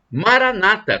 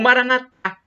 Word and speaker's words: Maranata: E do aramaico eu clamo, Maranata, como dizem os protestantes ou evangélicos, com a tônica na penúltima sílaba, ou Maranatá, como dizem os católicos, com a tônica na última sílaba.